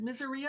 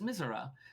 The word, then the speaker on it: Misera: Yeah, I would expect Miseria, but no, it's Misera. That's probably more correct based on the Latin.